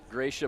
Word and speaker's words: Gracia: from the gift giving to make sure I had the pronunciation of her name right, which yes. I appreciate. I mean, that's what I was going to go with, was Gracia, and have been all week.